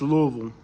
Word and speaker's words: Louisville: Like, once our parents aren't here, it's pronounced Louisville.